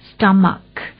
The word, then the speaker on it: stomach: stomach AE AE ต่าง ๆ เนี่ย นะ คะ สะกด ด้วย a c h e ออก เสียง ให้ ถูก stomach s t o m a c h stomach a อื อาการ ป่วย ต่าง ๆ ก็